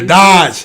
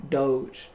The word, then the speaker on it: Doge: talking about doge yeah dodge it's not so it's not dodge no you saw it the dog d-o-d-g-e yeah how you say it doge see now that's no